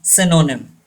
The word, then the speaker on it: synonym: Yes, this Y gives the sound of E and this Y also gives the sound of E. Synonym.